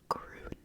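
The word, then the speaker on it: grün: gron all right so the U has the uml over it which kind of changes the sound of the U and so you get gron gron gron if you want to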